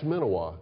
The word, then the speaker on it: Menawa: That's Menawa, who's How do you spell that? MENAWA. Up at up at Horseshoe Bend, I think they pronounce it Menawa.